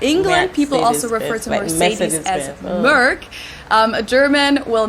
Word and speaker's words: Mercedes: So most Americans call this Mercedes. In German, we pronounce it Mercedes. So Mercedes I'm totally versus wrong. Mercedes.